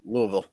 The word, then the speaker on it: Louisville: luis louisville slugger louisville you gotta like take all of the all of the syllables out of it louisville yeah it's like new